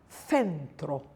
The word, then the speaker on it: centro: C is a soft th, th. And we have centro. Before I and E, it's soft, centro, and fine, fine.